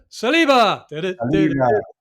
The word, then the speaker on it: Saliba: Saliba.